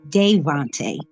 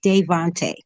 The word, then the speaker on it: Davohnte: Can you tell us a little bit about Devonte? The way you pronounce his name is Devonte.